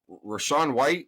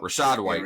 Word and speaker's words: Rashad White: yeah even though uh is it rashan white is that his name how do you pronounce his name hold on yeah Rashad Rashad white Rashad Rashad white um